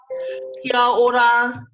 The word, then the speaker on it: kia ora: Kia ora instead of kia ora. When we say kia ora, we're completely cutting up the a on the kia.